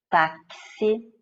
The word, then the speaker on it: táxi: É o caso do X com som de KS ou CS, como em tóxico, como em táxi, certo?